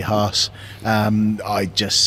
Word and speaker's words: Haas: think i think most people kind of go hats and it rolls off the tongue but um the purists will say haas um i'd just say look fine if you